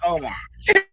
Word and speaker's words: Omar: So now he done moved up from hot dogs to Omar.